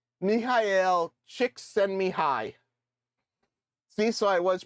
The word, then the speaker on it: Csikszentmihalyi: Apparently that's how you pronounce his name. Mihail Csikszentmihalyi.